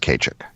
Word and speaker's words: Ceiteach: But Kachik is Gaelic for is Celtic for Keith, and it's spelled Ceiteach, but it's pronounced Kachik.